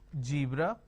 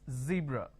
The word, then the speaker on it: zebra: Zoo Dison Breeze now this is a z sound for example zebra for example zone for